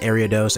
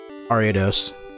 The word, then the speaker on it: Ariados: dose someone I remember I said Arya dose around someone and they said it's pronounced area dose and then I looked at them and I said no no no ariados ah come on why